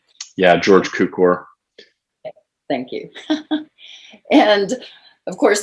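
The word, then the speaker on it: Cukor: how to say his last name yeah george cucor thank you and of course this is cary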